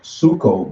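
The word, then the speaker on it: ψύχω: Yeah, I looked up the word cold in the blue letter, and it's pronounced suko, but it looks like psycho in the how it's spelled in English.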